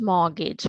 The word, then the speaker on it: mortgage: We do not spell T. So we say as mortgage.